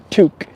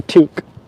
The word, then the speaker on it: toque: me that one time it's a toque it's pronounced toque in uh in uh okay so this is a toque not a beanie it's a toque am I